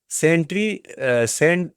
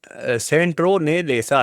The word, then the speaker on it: सिट्रोनेला: इसके बाद जो है सेंट्री सेंट्रो ने लेसा ठीक है सेंट्रो सॉरी इसको हम सही से उच्चारण करेंगे सिट्रोनेला घास ठीक है सिट्रोनेला घास तो